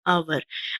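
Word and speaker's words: hour: कुछ वर्ड्स ऐसे होते हैं व्यूअर्स जो कि हमारे एज से शुरू होते हैं, लेकिन उनकी साउंड जो है वो एज से स्टार्ट नहीं होती, क्योंकि एज उनके अंदर साइलेंट होता है।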